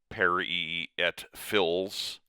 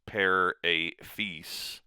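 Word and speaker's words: père et fils: In French, there's a phrase per a fees which looks like it's per at fills, but it's pair a fee.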